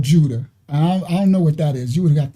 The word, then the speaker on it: Judah: So she was like, is it could you say the name Judah is yada because it means praise. I guess you could. Right. Right. But just because something means something don't mean that's how you say it for someone else's name too.